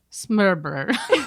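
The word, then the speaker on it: Smørrebrød: Like there's a word for open-faced sandwich, and it's spelled Smorrebrod. But you pronounce it like this. Smørbrød. Oh, no. Smørbrød. Like you almost don't say any sounds.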